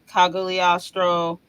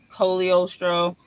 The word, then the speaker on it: Cogliostro: I heard the name obviously they pronounce it cogliostro but it's really Colio Stroh and I heard it'll